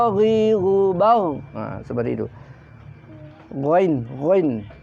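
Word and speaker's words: غ: Ghain, ghain. Tenggorokan atas, ghain. Gha, ghi, gu, bagh, gha, ghi, gu, bagh, gha, ghi, gu, bagh. Ghan ghani ghana minal mughni maghiran ghani gha. Itu cara pengucapan ghain.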